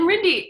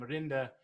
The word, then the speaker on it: Rinde: It was kind of Americanized as it came over. And so it went from Rinde to Rinde. But my European friends generally use the European pronunciation.